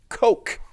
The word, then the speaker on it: Koch: In 2014, the respected neuroscientist Christoph Koch, as in Koch brothers, spelled the same way, argued in Scientific American, and listen to this logic because I think it is unassailable.